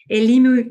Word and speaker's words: Elimu: Um you So the the nonprofit is that pronounced Elmu Elmu Girls. Elimu Girls.